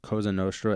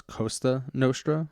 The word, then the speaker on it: Cosa Nostra: confused Alfred's in this he mispronounces Cosa Nostra as Costa Nostra which regrettable typo the